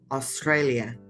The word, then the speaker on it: Australia: remember when we have the letter A and the letter U together, we pronounce O. Australia.